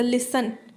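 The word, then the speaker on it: listen: एक वर्ड लिखा जैसे लिसन लिसन में हम टी साइलेंट कर देते हैं ओल्ड इंग्लिश में यह नहीं होता था ओल्ड इंग्लिश में अगर आपने जो आप साउंड निकालेंगे वही स्पेलिंग होंगे अगर मैं बोल रही हूं कि यह लिस्टन लिस्टन आएगा अगर ओल्ड इंग्लिश के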